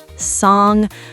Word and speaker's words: song: A lot of learners want to pronounce the G separately, like sin-ga, but it's actually one blended sound. So it's not sin-ga, it's just sing with a nasal sound at the end.